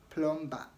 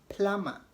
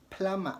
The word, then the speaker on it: plumber: not plumber don't say plumber remember the B is silent when B comes after M the B is always silent and the U is